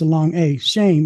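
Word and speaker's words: שֵׁם: it as shm, but it has a long a sound. Actually, it's a it's uh the vow points is a long a shame.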